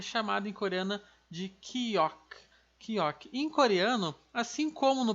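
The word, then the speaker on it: 기역: Então aqui no caso, esse nosso K ou G, que eu já vou explicar melhor, a pronúncia dela vai ser chamada de Kiok.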